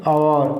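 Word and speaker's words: hour: দেখো আওয়ার, অ্যান আওয়ার, এইচটাকে দেখো আ এর মতো উচ্চারণ হচ্ছে না, তো সেই জন্য দ্যাটস ওয়াই এখানে অ্যানটাকে আমরা বসিয়েছি, ঠিক আছে।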